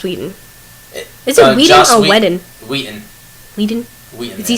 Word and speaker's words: Whedon: Is it Whedon or Whedon? Whedon. Whedon? Whedon. Has he said people this is how you pronounce my name?